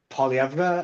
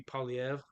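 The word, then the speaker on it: Poilievre: Like I've heard Polyevra, I've heard Polyevra. Like it, well because technically it is a French surname, so technically it would be Poliev, but yeah.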